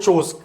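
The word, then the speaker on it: chores: and tired of household चोज काम को घरेलू काम को हम चोज वर्ड से एक्सप्लेन करते हैं वर्क की जगह हम यूज कर सकते हैं चूज यहां पर आर को प्रोनाउंस नहीं करेंगे शी इज सिक एंड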